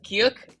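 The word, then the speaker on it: ㅋ: okay is also uh it's very similar uh to ch okay it's as you can see here it's similar to our k here our k here but then it has another line here okay so it is like k so this is g and k but this is K. So strong K as in kite.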